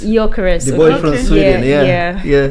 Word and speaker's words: Gyökeres: I don't know how to pronounce it. Oh, Gyökeres. Gyökeres.